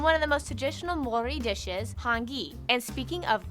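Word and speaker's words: Māori: yes by the way it's pronounced mori not maori maori they use the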